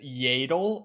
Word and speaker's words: Yaddle: pronounce it am I even gonna find a pronunciation uh it's yadle hold on Star Wars Central Master yaddle explained